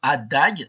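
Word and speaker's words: A†: AAG est l'adjoint de a donc ça se prononce Adag dans les calculs mais c'est l'adjoint de l'opérateur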